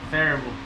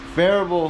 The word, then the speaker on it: Phearable: Farable. Farable.